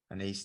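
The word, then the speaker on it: Anaïs: never know how to say her first name a nice nin an ace nin yeah thank you yes not close you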